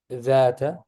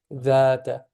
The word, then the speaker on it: ذات: سيصلى نارا ذات لهب. Yeah, this is also two syllables. Okay, FT. ذات. No, that's too long. ذات. Yes. Yeah. When you do that, you're doing it 3 syllables long.